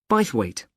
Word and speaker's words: Bythwaite: do you spell that b why t h w a i t e bite weight is it easy to